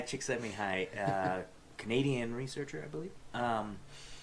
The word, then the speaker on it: Csikszentmihalyi: pronounce his first name Mihaly Csikszentmihalyi knee high cheek send me home yeah me high Csikszentmihalyi Canadian researcher I believe